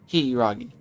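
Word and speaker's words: Hiiragi: No, 2 I's definitely means that you pronounce it Hiragi.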